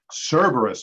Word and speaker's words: Cerberus: double round sorry Jed the pronunciation does count Cerberus is right okay what I said you put the wrong emphasis on the wrong syllable but I said it